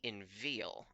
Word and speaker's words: inveigle: Inveigle's like inveal. Okay, that's strange. Say inveal, nay, but say inveigh, nay, but inveal. That's strange, because it rhymes with eagle, and we pronounce the G in that.